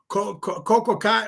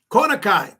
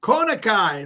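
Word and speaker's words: Kona Kai: Cocoai or Ko I'm pronouncing it wrong. Konai. Konai. There you go.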